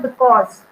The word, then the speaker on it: because: So stress on the second syllable, which is in this word because. So I'm not giving more stress to be. I'm giving the stress on the second syllable, which is cause.